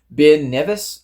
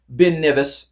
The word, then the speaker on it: Ben Nevis: Ben Nevis, I believe is how it's pronounced.